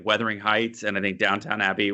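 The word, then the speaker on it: Downton Abbey: We have Weathering Heights and I think Downtown Abbey was um or Dun Abbey, I think is how you pronounce that, is uh filmed their finale in Yorkshire.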